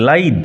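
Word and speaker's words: lithe: লাইদ ক্ষিপ্রান উচ্চারণ লক্ষ্য করো। এল আইটি এইচই লাইদ লিদ নয়।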